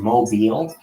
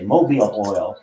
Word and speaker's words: Mobil: So instead of saying mobile, which was an issue in which they were running for a long time, where people would say mobile oil, like Mobile, Alabama, they changed the O to